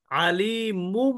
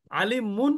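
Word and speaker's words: عليم: মিমের উচ্চারণ করতে হবে কিভাবে আলিমুম বলতে হবে আলিমুম আলিমুন বলা যাবে না আলিমুম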